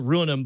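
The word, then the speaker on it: ruinam: it's ruinum r-u-i-n-a-m so it's pronounced uh you pronounce it ruin them but but it has the word ruin in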